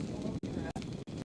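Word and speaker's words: Ondra: It's pronounced Andra, but I don't know if that means I don't remember much.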